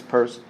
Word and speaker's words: Peirce: purse as we'll see it looks like it's pronounced pierce but it's purse um might get a